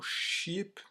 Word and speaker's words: sheep: Attention, sheep, il faut bien faire le E, enfin le I long, sheep, parce que cheap, c'est pas cher, ça s'écrit pas du tout pareil.